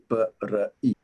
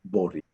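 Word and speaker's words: บริ: B-r-i. It's not bri or bari, it's bori.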